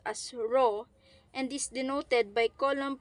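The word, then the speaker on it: rho: it is represented by the symbol p or pronounced as row and is denoted by column per Cub meter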